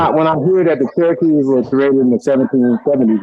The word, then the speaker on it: Cherokee: The way you pronounce it, the R sounds like a D. Cherokee, Chadaki, Daki, like Cherokee, not Cherokee, Cherokee.